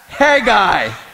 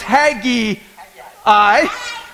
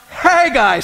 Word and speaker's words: Haggai: of Haggai right can we all say that hey guy we didn't all say that hey guy Aaron thought it was Hagee i but it is actually pronounced hey guys Steve can you say that hey guy there